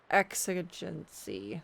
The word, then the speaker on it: exigency: want to butcher it exigency x agency there we go those the x and the g sound x agency uh i